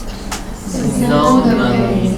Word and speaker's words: synonym: Synonym, antonym, and hyponym, different. Okay, the stress is first, okay.